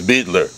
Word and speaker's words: Beidler: of those 83 years I never call it biter right I never even heard that until today it was Beetler yeah all over South